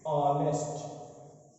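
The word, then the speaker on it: honest: जैसे एन ऑनेस्ट मैन। देखिए लिखा गया है एच से, हिंदी का व्यंजन है ह, लेकिन इसका उच्चारण अ से होता है, यानी कि हिंदी के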